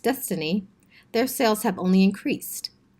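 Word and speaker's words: DSSTNE: the development of the DSS T and E pronounced destiny their sales have only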